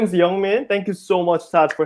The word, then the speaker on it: YoungMin: is yeah young man just like how it's pronounced young man young man but with an eye that's how I always